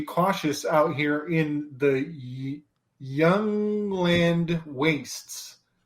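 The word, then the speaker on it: Jundland: out here in the Young Land wastes it's spelled like why you in l-a-n-d Young Land which is uh just fascinating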